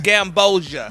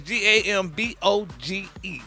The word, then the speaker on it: Gamboge: Gamboja. Gamboja. That's Gamboge.